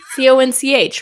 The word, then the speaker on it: conch: it Kunk con no isn't it Con no c o n c h right it's spelled like that yeah but you the H